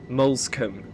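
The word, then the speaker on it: Moulsecoomb: Molskcom. Okay, that's how you pronounce it.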